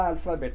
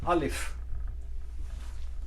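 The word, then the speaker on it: ألف: पहला अल्फ़ाबेट है अलिफ। अलफ नहीं, अलिफ।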